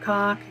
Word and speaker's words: Koch: Robert Koch in 1881, and I'm not pronouncing this correctly because that's a German name and the English don't have the pronunciation for this CH. There's a German sound. If anyone speaks German, you know what I'm talking about.